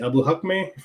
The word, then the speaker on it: Abuhakmeh: how do you say your last name abu hakhme yep right yep perfect uh you know it's